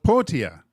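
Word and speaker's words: Pyyhtiä: the NHL's pronouncer guide mle potia potia with the p y y h TI a Tommy the Y's are silent yeah who knew that it made the ptia sound wow that's a mik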